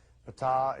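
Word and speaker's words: Ptaah: While he was there, he got to meet Pata. That's pronounced Pat.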